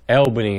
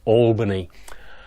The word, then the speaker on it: Albany: And for those of you on the east coast, that's pronounced Albany, not Albany.